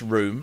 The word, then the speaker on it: Rum: it's pronounced room, although it's spelt rum. It is the Swedish name for a room.